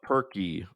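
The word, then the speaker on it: Purkey: Bob Perky. Spelled like turkey, but with a P.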